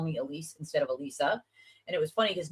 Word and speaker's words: Elisa: Most people call me Elise. It's It's said Alisa.